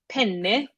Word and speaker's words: penne: you that don't know, like penne, two N's, Penne, is the type of pasta. But if you don't pronounce that double N, then all of a sudden you have a male appendage.